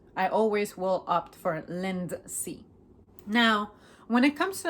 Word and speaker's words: Lindsay: When it comes to pronunciation, I want to accentuate that D that is present as well. Lindsay. I usually say Lindsay. A little slight D. Lindsay. It's just so subtle that you can barely catch it unless I slow down.